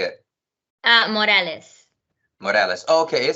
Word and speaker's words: Morales: Morales.